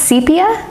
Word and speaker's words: sepia: Oh, is it pronounced sepia? Is it? I think either way is fine. Sepia or sepia. We've opened the can of I say everything wrong.